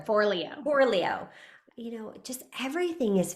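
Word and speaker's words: Forleo: I think it was Marie Foriello. I always screw up how I think you it's say her name. for Leo.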